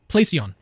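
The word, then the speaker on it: πλησίον: look at the Greek the way that you pronounce this Greek word that is translated neighbor is play on placeon all right placeon all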